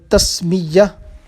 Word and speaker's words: تسمیہ: شیطان مردود سے۔ اور تسمیہ، اور اس کا اصل میں تلفظ ہے تسمیہ۔ بسم اللہ الرحمن الرحیم